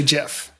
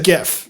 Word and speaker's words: GIF: So hard G is GIF.